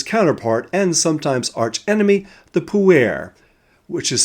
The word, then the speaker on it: Puer: We'll also get to know his counterpart and sometimes archenemy, the Puer, which is spelled P-U-E-R, and which is Latin for young man.